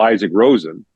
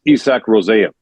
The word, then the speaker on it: Isak Rosén: Now you get into things like the Buffalo first rounder for Sweden, who you would call Isaac Rosen, is Isak Rosén.